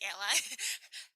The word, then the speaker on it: a11y: worry to mention at 11 why just say Ally it's exactly the um pronounced as Ally because it's too verbal like accessibility you're getting